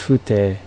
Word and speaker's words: 風体: This is pronounced fute for, what is this?